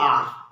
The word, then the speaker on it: hour: देखिए समझिए, HOUR, इसमें एच साइलेंट है, हम इसे हावर नहीं पढ़ेंगे, इसे पढ़ेंगे आर, इसीलिए इसके पूर्व आप एन का प्रयोग करेंगे।